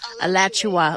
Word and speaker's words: Alachua: so dear highly articulate alechua is that how you say it um alachua like joshua but a latter and above all compassionate